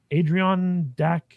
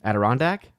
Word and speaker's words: Adirondack: Adrian Dak Virtual.